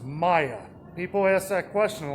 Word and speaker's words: Maya: even back in six the sixth century is pronounced maya people ask that question a lot i questioned